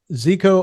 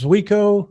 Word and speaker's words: Zuiko: of the old Olympus Zico, or is it Zico? I think it's Zuiko. They pronounce it Zuiko lenses Okay.